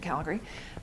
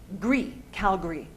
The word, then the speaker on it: Calgary: The city I live in, Calgary, Tara's from Calgary, natives say Calgary, right? People from out of town say Calgary, the way it's spelled, but whenever anyone says Calgary, we go, oh, where are you from?